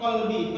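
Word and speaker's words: قلبي: Tsabbit qalbi pakai qaf. Karena kalau kalbun itu artinya beda. Maaf Bapak Ibu, apa yang menggonggong itu arti kalbun. Kalau qalbun hati, kalau kalbun yang menggonggong tuh. Jadi kalau dibacanya tsabbit qalbi, salah baca umpama tentu berubah artinya.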